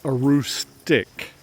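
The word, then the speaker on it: Aroostook: It's a r o s t o k pronounced arustic, not sto. The arustic river is right down there, as you might imagine, in that little valley.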